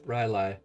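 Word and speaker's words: R'lyeh: Yep, Rylai.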